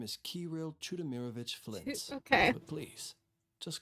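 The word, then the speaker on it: Chudomirovich: My name is Kiril Chudimeirrovich Flint.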